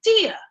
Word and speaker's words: Tia: And he's like, Tia. And I was like, yes. And he was like, it's your name comes from the goddess, the Greek goddess Thea, which is why in Spanish it's pronounced that way.